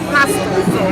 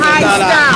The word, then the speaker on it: High Style: We made You said hostile. No, not Say High Style.